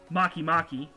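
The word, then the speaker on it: Makemake: humea and then there's my favorite makimaki I'm not kidding it's actually it's it's spelled make make no I'm not kidding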